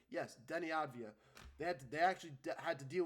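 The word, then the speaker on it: Deni Avdija: They had to deal with Denny Avdia. Great, yeah, I actually pronounced his name for the first time correctly. Yes, Denny Avdia.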